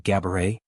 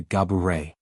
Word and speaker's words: Gabourey: While she has grown accustomed to hearing gabet, she clarified that the true pronunciation is closer to Gaburet.